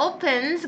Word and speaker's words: opens: F 발음 하지 마세요. 여기 P는 그냥 P입니다. opens.